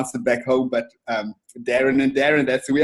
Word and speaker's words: Darren: So we just pronounce it Darren. Darren. Oh, yeah, a little bit light on the A, Darren, yeah.